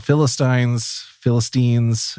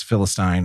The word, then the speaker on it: Philistine: There's two different pronunciations for this, Philistine or Philistine. Apparently, as you'll hear in the readings, I pronounce it both ways. So it's fun when you can't pick a path. But both, I'm pretty sure both are technically correct.